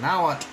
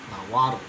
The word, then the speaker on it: Nahuatl: Like, no, it's not Nahuatl, it's Nahuatl. Nahuatl.